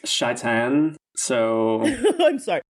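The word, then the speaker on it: Shai'tan: today Satan not today Satan nope it's actually pronounced shaan so I'm sorry not today Shan put that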